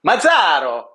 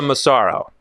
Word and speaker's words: Massaro: You're more of like the guy in Italy who would pronounce it. Okay. Mazzaro. So you would prefer the Massaro? In Philly, we say Massaro. Massaro. In Philly, okay. Yeah, and in Philly, we really say Massaro. You say it like that.